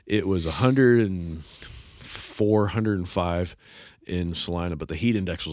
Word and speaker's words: Salina: We had eaten lunch in Salina, Kansas, which is the proper way to say it, by the way, for those of you who don't know. It's Salina, not Salina.